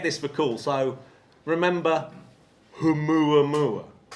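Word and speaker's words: ʻOumuamua: So remember humua mua. Say that once again, Matt. Humu. I love that you pronounced the H. Yes. Humu Mua.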